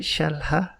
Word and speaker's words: Shahla: Did I pronounce that right, Shahla?